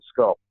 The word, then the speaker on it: Schoop: guilty that Gregg I was pronouncing it Shoop until today so pepper song and